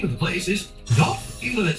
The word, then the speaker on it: Dartford: it a bit, especially because I've never once heard the R pronounced amongst anyone around me, because it's not pronounced. The name of the place is Dartford.